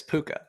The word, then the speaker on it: Puka: Puka gets drafted again. Puka's steadily getting drafted now, which is interesting to see. I like Puka. Rhymes with Luca, so I'm okay with that.